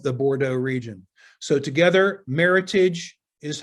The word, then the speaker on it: Meritage: the name meritage incidentally the word meritage comes from the word merit which refers to the noble grapes and the heritage which refers to the history of the bordeaux region so together meritage is how the word